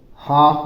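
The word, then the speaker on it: half: start करते हैं देखिए एच ए एल एफ इसको हाफ बोलते हैं ल साइलेंट लिया जाता है एल को नहीं बोला जाता है एच ए से ह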